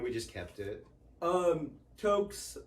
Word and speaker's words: Tok: togg just t okay t-o-k yeah because it's a town in alaska okay and um but nowadays everybody would pronounce it talk because then tick-tock oh yeah and that's what everybody would call him but um toke and i was just